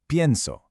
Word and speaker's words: pienso: For I think you say pienso. The stress is on the front, on the stem.